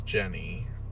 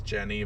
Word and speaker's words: Ginny: So her name is Jenny, or Ginny. I think it's Jenny, but it's spelled like Ginny, like she's made out of gin.